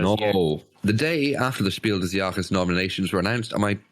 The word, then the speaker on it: Spiel des Jahres: diar things as no the day after the Spiel deak's nominations were announced am I pronouncing it okay Oliver that's perfect y thank